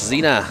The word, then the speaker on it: Sina: Apparently it's pronounced Xena, like the warrior princess. Zina.